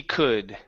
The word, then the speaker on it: could: As hard as he could. As hard as he could. Not cool. Open the mouth. Could. Could. There you go. That's the vowel sound.